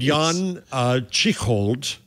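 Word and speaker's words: Jan Tschichold: Meanwhile, there is a guy named Jan Chichold. I'm going to mispronounce his name.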